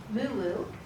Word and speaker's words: Muwu: But I like to stress Muwu, which is Mugu, right? The Spanish changed the pronunciation and the spelling.